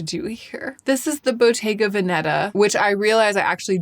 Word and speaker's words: Bottega Veneta: This is the Bottega Veneta, which I realize I actually don't know how to pronounce. I should look it up. Bottega Veneta.